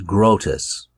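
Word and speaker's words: Groetus: that could be employed up next is grotus yes i looked it up that's how you say it he's called the god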